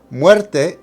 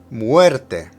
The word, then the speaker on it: muerte: Muerte needs to emphasize the er. Muerte, muerte.